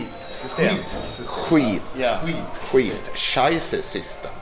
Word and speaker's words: Skitsystem: Skid System. Skid That's System. everybody outside Sweden say. Yeah, Skid yeah. System. How is it right pronounced? Sorry? How is the right pronunciation? Not skid system, but Skitsystem.